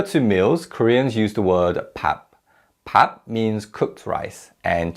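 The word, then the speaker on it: 밥: to home meal now in terms of pronunciation PAP changes when it's used with a verb vulgar so the pupa team sounds like a meal matching so we don't say PAGASA we say pan mo Gaza pan mogul so now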